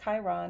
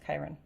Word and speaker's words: Chiron: would advise to learn is that it's not pronounced chiron it's pronounced chiron but really do what you will as for